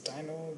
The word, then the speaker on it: Deno: We pronounce as Deno.